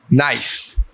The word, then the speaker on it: gneiss: Nice. Nice. NIECE. I'm sorry, but that is incorrect. The word is spelled GNEISS.